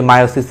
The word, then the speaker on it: মায়োসিস: এখন এটি মায়োসিস হিসেবে হচ্ছে উচ্চারিত।